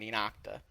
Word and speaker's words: ENOCTA: Lots of people are saying Inocta, and that's the correct way to say it.